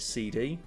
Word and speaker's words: SeeD: of the same word so I pronounce it seed maybe other people pronounce it CD I pronounce it C